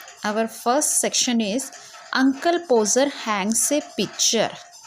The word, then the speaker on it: Podger: Our first section is Uncle Poser hangs a picture. We will say poser. D is silent here.